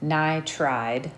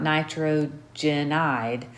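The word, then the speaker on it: nitride: first syllable and then i'd ni tried okay not nitrogenide or nitrogen um it's just ni and then tried if that makes a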